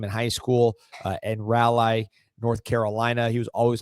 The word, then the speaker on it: Raleigh: Ended up being I believe Hold on, hold on before I'm before people get on you for the pronunciation. Raleigh. Raleigh.